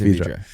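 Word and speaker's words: Vedra: They call it Vidra. They say it wrong, but it's Vidra.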